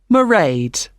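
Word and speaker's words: Mairead: be working then so you'll see my assistant merade sorry how do you spell that it's m a i r e a d meride okay got that it's not a name i'm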